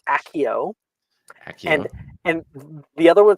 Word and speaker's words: Accio: Both of those are weird to pronounce, so it's Accio.